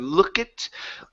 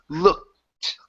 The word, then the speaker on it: looked: ok let's try and remove that e sound from their show instead of look it looked looked there you go that's it